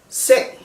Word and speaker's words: seng: But if you add a G, it becomes seng, bed. You hear the difference of the E sound, sen, seng.